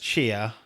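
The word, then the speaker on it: Tchia: I think it's pronounced Chia.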